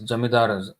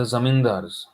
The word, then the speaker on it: Zamindar: The not it is Jamidaras, the Zamindars. This is the actual word.